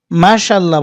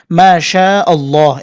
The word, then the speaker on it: মাশাআল্লাহ: তাড়াতাড়ি বলেন সেক্ষেত্রে অন্তত এক আলিফ কিন্তু টানতেই হবে যদি মাশাল্লাহ বলেন মাশাল্লাহ তাহলে কিন্তু সম্পূর্ণ ভুল একটা শব্দ আপনি বলেন মাশাল্লাহ না মাশাআল্লাহ এভাবে বলতে হবে হামজা